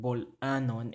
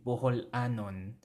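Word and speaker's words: Bol-anon: Because in Cebuano, it doesn't sound right to say boholanon. Boholanon. No, we take away that extra syllable inside with the vowel ho, right?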